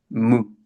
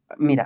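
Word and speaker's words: μῦ: Aquí lo transliteran como mi, pero lo correcto, yo digo que lo más cerquita es decir mu, pero la U es como la U francesa, o sea, no es un sonido que nosotros tengamos en el español.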